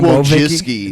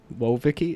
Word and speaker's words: Wojcicki: I want to thank Speck also for telling me how to pronounce Susan Wojcicki's name. Yeah. Wojcicki? I think it's Susan Wojcicki. It's Wojcicki. Whoa, Vicky?